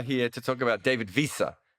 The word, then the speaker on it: Wiese: to talk about david visa have i pronounced david visa correctly yes you have i've been trying to